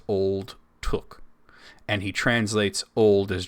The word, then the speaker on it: Took: I have read elsewhere that the last name of Pippin is pronounced Took. Very specifically, not to. No, Took. That's what I'm saying. Took. No, I'm hearing book. Took. Okay, we're agreeing now. Yeah. I say it quickly. Took. Not book.